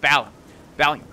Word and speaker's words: Balium: I like to say it like that, like Valium, but Balium.